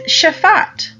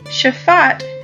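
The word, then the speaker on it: שפט: down yashaf our next new word is shafat shafat is spelled Sheen Faye Tet do you remember in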